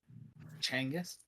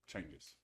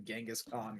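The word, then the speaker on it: Genghis Khan: Changis, that's how they say his name. Changis.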